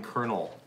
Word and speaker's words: colonel: up with a word the name colonel it's not how it sounds you know what I